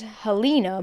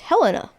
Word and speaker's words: Helena: Helena is my mom pronounced it as Helena, but then everyone was like, it's Helena.